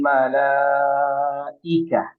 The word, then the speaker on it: ملائكة: Tanazzalul malaikah ya. Ika, bukan aika tapi ika.